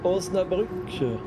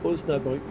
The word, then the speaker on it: Osnabrück: Alors là, je crois qu'ils l'ont écrit en anglais, mais normalement, il y a le tréma sur le umlaut. Donc normalement, c'est bien Münster et Osnabrück.